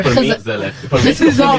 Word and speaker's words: gezellig: it, and maybe they try to you don't pronounce it that way, but like in a very like Gezeller. For me, Gezellig.